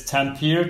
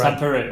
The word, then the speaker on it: Tampere: this city but it's Tampere Tampere Tampere temporary okay in Finland imagine how you would say it normally then speed it up a bit that appears to be